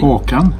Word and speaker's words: Håkan: Hawkin how do you say your name properly or come walking okay and I want to hear your